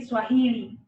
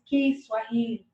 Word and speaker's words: Kiswahili: Popularly in English they say Swahili, but we pronounce it as Kiswahili.